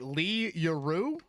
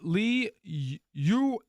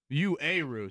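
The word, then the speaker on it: Li Yueru: No answer for, am I saying it right, Lee Yuru? It is Lee Uaru. Uaru. So I need to throw in an extra syllable there.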